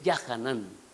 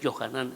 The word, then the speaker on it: Yahanán: No es es Yahanán. Los judíos le quitaron la A, porque no quieren que se pronuncie el nombre de Yahweh. Pero realmente no es Johanán, es Yahanán.